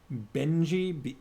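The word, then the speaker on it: Bengy: anyways let's see oh uh well the name is spelled ah yes bhagas benji b-e-n-g-y lightfoot bogus maybe farmers thinks he might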